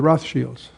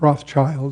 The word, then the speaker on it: Rothschild: And if you study the the whole history of the Roth Shields, not Rothschild, that's mispronounced. It's red shield in German.